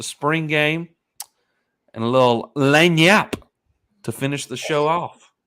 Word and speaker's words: lagniappe: things with the spring game and a little lane yap to finish the show off i do not know how to pronounce it yeah i was like lagna bay oh my goodness lane yeah laying out yes